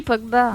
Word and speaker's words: Pogba: même pas comment ça s'écrit, Pogba. Bah, tu tapes Paul, Paul, Pogba. Comme ça se prononce.